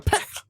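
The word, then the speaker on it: Pech: A peck. That's how it's pronounced.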